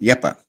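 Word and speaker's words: Jeppe: So it's pronounced Yepa.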